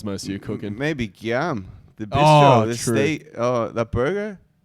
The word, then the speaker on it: Guillaume: It's spelled Guillamine. So we're like Guillamine, but like Giuliani? No, Guillaume. Guillaume.